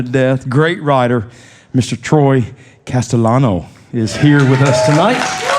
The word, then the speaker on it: Castellano: Castellano, you got Castellano. it. Yeah, it's not an easy one to It's not pronounce.